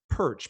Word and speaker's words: Pyrcz: you my name is perch pyrcz it's pronounced perch if you say it just like perch then you're you're doing